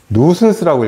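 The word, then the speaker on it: nuisance: 누슨스라고 읽어요. 누슨스. 이거 C입니다. C. 누슨스.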